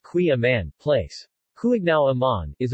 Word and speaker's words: Kouign-amann: Queen Amman pronounced qui amman place cooling now amman